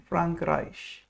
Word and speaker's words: Frankreich: we pronounce it's, if whenever A and E are written together, the sound it makes is I, like in Frankreich.